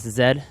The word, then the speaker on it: Zedd: I'm from Germany and we pronounce the Z as Zed and my friends gave